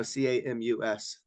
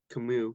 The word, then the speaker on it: Camus: So Camus. Camus, but he's French, so you don't pronounce the S.